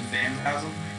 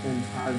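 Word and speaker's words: fantasma: Phantasma. You know what that means? No. Yes. Oh, you mean phantasm? No, phantasma.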